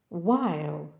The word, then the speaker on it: while: куди котрий який без букви H Чаклунка відьма while час проміжок часу без букви H хитрощі White